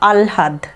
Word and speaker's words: আহ্লাদ: তো যাই হোক এটাতে ততটা অসুবিধে কিছু নেই, তোমরা দুটোই উচ্চারণ করতে পারো, কোনোটাও কিন্তু ভুল বলা যাবে না।